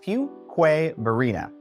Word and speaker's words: Fuquay-Varina: look at this one tricky isn't it it's pronounced fqu Verina yes it might look like something different you